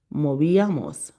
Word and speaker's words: movíamos: Movíamos. M O Accent on the I. Movíamos.